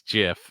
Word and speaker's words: GIF: important by the way the way to say gif is jiff as I as I thought it was according to the creator who says it's pronounced jiff like the peanut butter